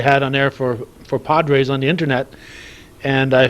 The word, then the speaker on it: Podres: lot they say Padres actually the right pronunciation is Padres but when I got to the bigleys they call me Johnny Padres and I want to